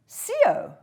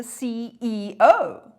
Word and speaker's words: CEO: Well, I would say, but do you pronounce that CO? I don't. I say the CEO.